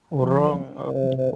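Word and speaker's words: wrong: ওরং হবে নাকি অরেঞ্জ ওর ডব্লিউ টা বাদ দিয়ে দিবেন মনে মনে ডব্লিউ টা বাদ দিয়ে দিবেন এটা সাইলেন্ট থাকবে রং হবে রং ভুল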